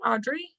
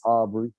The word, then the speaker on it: Aubrey: real quick on aubrey audrey i'm going to say your name wrong what's up you had it right it's aubrey um so my question